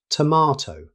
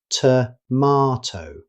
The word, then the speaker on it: tomato: In British English, it's pronounced tomato. Notice the broad A sound, tomato.